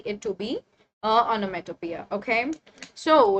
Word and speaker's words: onomatopoeia: Utopia all right onomatopia okay first learn the pronunciation of the word which is onomatopoeia okay and what is this this is one